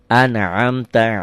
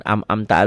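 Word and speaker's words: أنعمت: Kalau yang kayak gini Ain anamta alaihim bukan amamta alaihim anamta alaihim betul boleh asal benar bacanya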